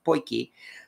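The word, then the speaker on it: potjie: why i have the poikie and it's pronounced pointy as i find out it looks like it's spelled pudgy but people from south africa have corrected me and it's actually pronounced poikie um and let's get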